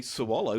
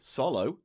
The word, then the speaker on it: swallow: Very much like like the W in sword. I can't. It's fallen from use in my own brain. Cuz you say swallow, don't you? You wouldn't say swallow.